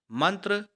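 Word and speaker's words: mantra: उसी को अंग्रेजी में काट लिखा जाता है मंत्र आप बहुत से हिंदी मंत्र भी जानते होंगे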